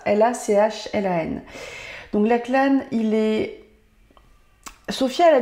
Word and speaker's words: Lachlan: Je pense que ça se prononce comme ça. L-A-C-H-L-A-N.